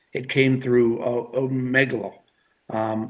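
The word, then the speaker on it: Omegle: uh i believe it's it came through a megalo um it's spelled o-m-e-g-l-e um we have been working with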